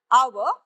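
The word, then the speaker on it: hour: The here heads is silent. We प्रोनाउन्स this as एन आवर। We don't प्रोनाउंस the heads.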